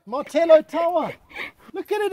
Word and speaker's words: Martello: It's a Martello Tower. I said it right. I've been saying Mortadello the whole day. But I got it right. Martello Tower.